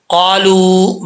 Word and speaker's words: قالوا: کے ساتھ سیکھ لیں۔ قاف الف زبر قا، یہ قاف حروف مستعلیہ میں سے ہے، پر پڑھا جائے گا۔